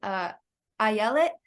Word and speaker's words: Ayelet: First of all, my name is pronounced Ayelet, as in Ayelet.